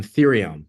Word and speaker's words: Theriome: for me it's um Theory om so the theory of omics Sciences like the okay